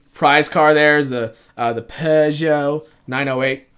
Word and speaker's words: Peugeot: the PES yo 908 I don't know how you say that without you know an accent what Americans say piu gets pizanno no you can't do it without an accent it sounds wrong otherwise yeah the the Peugeot